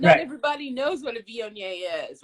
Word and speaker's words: Viognier: But not everybody knows what a Viognier is, right?